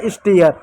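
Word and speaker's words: stare: दिया, तो हो गया स्टेयर, ई साइलेंट होगा, ई को नहीं लिखेंगे, ठीक है।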